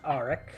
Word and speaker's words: Arik: Is it pronounced or Arik? I asked you and forgot. You did. That's all right. It's pronounced Arik. Okay.